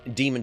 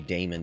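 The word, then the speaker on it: Daemon: Dam Demon Tools Light. I keep wanting to say Damon Tools.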